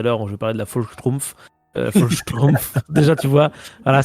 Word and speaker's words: Volkssturm: Et pourtant, j'ai fait de l'allemand, donc je sais prononcer le V correctement. Il faut faire F et pas V.